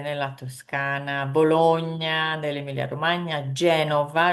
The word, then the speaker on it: Genova: Toscana, Bologna nell'Emilia Romagna, Genova, remember it's Genova with a V, in Liguria. If you say Genoa, that is the football team.